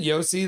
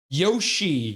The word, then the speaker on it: Yoshi: Isn't Yosi the dinosaur from Super Mario pronounced? Um Oh, what is it? What's the dinosaur? Yoshi. Whoa, now I'm having a brain fart. Yoshi. Yeah, Yoshi. You missed the H.